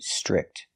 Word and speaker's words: strict: So, both parents are very strict. Pronunciation. The tr makes a ch sound.